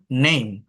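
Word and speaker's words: name: Finally silent মানে শব্দের শেষে যদি ই থাকে, মেইন বিষয়টা হচ্ছে শব্দের শেষে যদি ই থাকে তাহলে ই এর উচ্চারণটা হয় না। যেমন নেম, দেখেন এন এ এম, এটা কিন্তু নাম না।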